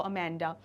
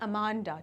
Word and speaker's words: Amanda: या हिंदी में बोलेंगे तो जो एक उच्चारण निकल कर आता है वो होता है अमांडा, ठीक है, अमांडा। लेकिन जो रियल प्रोनाउंसिएशन, करेक्ट प्रोनाउंसिएशन है इसका इंग्लिश में वो होगा अमेंडा, ठीक है, समथिंग लाइक दिस, अमेंडा।